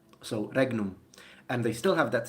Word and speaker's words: regnum: know how in italian a gn put together is pronounced as like the spanish n with a little thing on top that i can't remember